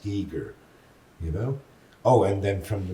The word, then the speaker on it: Giger: The German artist Geiger, and he corrects me and said, no, he's Swiss and his name is pronounced Giger, Oh, and then from